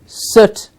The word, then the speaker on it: soot: after cleaning the chimney he was covered in soot or shoot please remember the pronunciation of slot-2 t' it is soot quiet like the Punjabi world to throw something